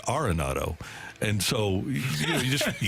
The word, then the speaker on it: Arenado: Nolan Arenado I said how do you pronounce your name because I remember you've been Arenado for his entire career and he said I don't think anybody's ever asked that it's arronado and so you just